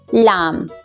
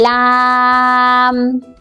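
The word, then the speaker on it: لام: Laam. Say it for 3 times. Okay. Laam, Laam, Laam.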